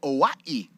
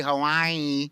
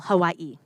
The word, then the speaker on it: Hawaii: how they pronounce it you don't say hawaii you say what he's trying to say is you pronounce every vowel hawaii but no consonants uh this is a